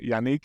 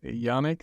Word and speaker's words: Yannick: for noticing it's awesome now most most Americans like pronounce my name as Yanik because Nick is like very familiar name in America but yeah it's a French name so thanks for pronouncing it right my pleasure well uh